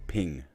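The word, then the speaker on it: þing: In Old English and Old Norse, these general assemblies were known as ping, pronounced like thing.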